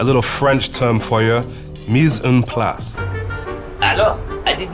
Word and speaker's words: mise en place: a party, a little French term for you, mise en place. Hello, I did not see you there. It is pronounced like this, mise en place. Follow the bouncing ball, mise en place.